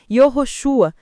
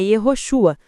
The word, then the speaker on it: Yeshua: É frequente ouvirmos defensores do nome sagrado insistir que devemos chamar Jesus de Yoroshua ou variações semelhantes. A verdade linguística é mais simples. O nome original é Ioshua.